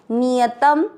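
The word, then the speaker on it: नियतम्: नियत शब्द पूरा होने के बाद त पे अनुस्वार आधा म, नियतम कुरु।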